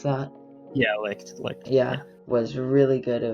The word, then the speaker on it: Licht: I thought it was really good because the fight between Yami and Licht, is that how you pronounce that? Yeah, Licht.